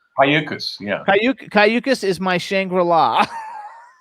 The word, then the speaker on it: Cayucos: Cayucos. Cayucas, yeah.